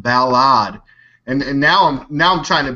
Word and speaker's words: Balad: I had a comment this weekend that I was saying Balad wrong. An American that worked at the military base there said, you said it wrong. It's pronounced Balad.